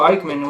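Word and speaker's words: Aikman: look at you're like oh Eichmann with a silent a pretty much that's pretty cool uh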